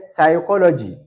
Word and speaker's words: psychology: P is not pronounced in the word psychology.